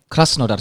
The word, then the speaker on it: Krasnodar: Krasnodar.